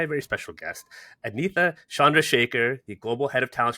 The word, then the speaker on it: Chandrasekhar: As always, I'm your host, Clark Wilcox, founder at Digital Recruiter, and I am joined by a very special guest, Anita Chandrasekhar, the Global Head of Talent Strategy and Operations at Zapier.